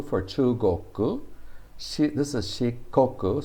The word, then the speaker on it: Shikoku: chu goku this is shikoku so after the e sound the k remains a hard k but after the u sound it becomes a soft g because she is shikoku shi goku chi i guess